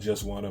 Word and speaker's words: JUSWNA: The song is called Just Wanna, but it's spelled JUSWNA.